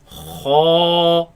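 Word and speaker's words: خ: Kha, Kha, kha, kha, kha, kha, kha. kha. Now this letter comes from the top part of the throat. You can feel it in the back of the mouth.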